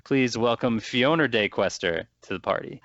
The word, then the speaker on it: FionordeQuester: play let's player uh whose name rhymes with free phone or play tester please welcome fiona day questor to the party how